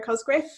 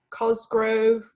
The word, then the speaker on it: Cosgriff: I've been called many things in my life. It's been Cosgriff, Cosgrove, Cosgrave.